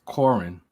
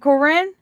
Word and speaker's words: Koryn: mess it up too it's corinne it's not corrin it's not corrin i'm